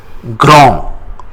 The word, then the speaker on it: grand: The adjectives big or tall in French, it is called grand. Grand. We don't pronounce D at the end.